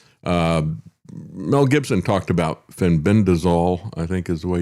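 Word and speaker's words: fenbendazole: Uh Mel Gibson talked about Fenbendazol I think is the way you pronounce that but also Ivormeckton and um Handy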